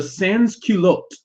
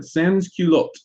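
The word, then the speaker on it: sans-culottes: another group of people that emerged called the sanskulot the sansky looked and that's spelled s-a-n-s c-u-l-o-t-t-e-s and culotte are these pantaloons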